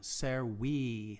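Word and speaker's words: servi: with a long i ser we that's pronounced like if it was like a double e ser we conus was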